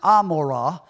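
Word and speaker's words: עמרה: the word gamorra strongs number 617 it's actually pronounced Amora the root of it is seen in 616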